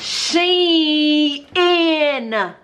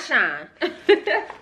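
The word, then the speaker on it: Shein: proof the proof is in the pudding it's pronounced she in Shin nashin not shine but I'm gonna do a dedicated because I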